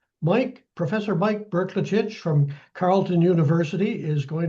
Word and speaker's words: Brklacich: And I guess first thing we should know about Mike is how to pronounce his name. He is a little tough. He taught me at Berkelitch. Mike, Professor Mike Berkelich from Carlton University is going to be our speaker.